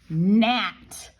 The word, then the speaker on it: gnat: All right, so let's go to our next one, gnat, okay? So, we're gonna spell that with a G-N. We know that it says N, but this is a